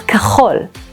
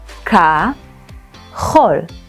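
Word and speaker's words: כחול: Blue in Hebrew is kachol. Try and say it. Ka-chol. The tricky part is pronouncing the ch in kachol. Try coughing and feel the back of your throat.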